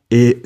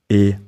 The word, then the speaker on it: est: final s in suis, est, or sont, and you don't pronounce the final t in est, or sont.